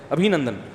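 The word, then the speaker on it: ابھینندن: کسی نے بتایا ابھی نندن ہے, ابھی نندن نہیں ہے, صحیح تلفظ کیا ہے بھائی, ابھی نندن, تو وہ اتار لے گا اس کو.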